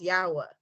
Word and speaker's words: Yahweh: And so we refer to the creator by his Hebrew name, pronounced Yahweh. And so we're just praying and praying and praying and saying, Yahweh, please save our lives, save our lives, save our lives.